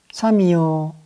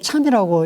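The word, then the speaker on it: 參: 정자는 공자의 제자이니 이름이 삼이요 자가 자여이다. 성명을 합해서 보면은 정3이다. 경우에 따라 이 3자를 참이라고 읽는 경우가 있는데, 사전상으로 보면은 3이 맞다고 하겠습니다.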